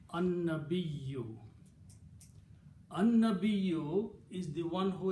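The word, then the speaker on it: النبي: Noon and lam, when they come together, you don't pronounce lam, but you pronounce noon twice. So it became an-nabiyyu.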